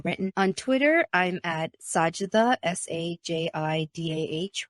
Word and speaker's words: Sajidah: Sajda, do I get that pronounced right?